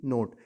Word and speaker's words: knot: KNOT नोट। इसमें के silent रहेगा।